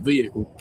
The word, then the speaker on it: vehicle: car lengths behind that vehicle to be in compliance with Georgia law. Okay. Vehicle. You know they're inbred when they pronounce the H in vehicle.